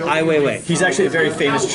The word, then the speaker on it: Ai Weiwei: Oh, wait, remind me how to pronounce that? Ai Weiwei. Ai Weiwei.